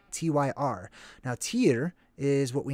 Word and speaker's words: Tyr: a word search on tyrone it's not actually pronounced thai rhone okay we have kind of messed that up over time it's tier t-y-r now tier is what we named tuesday after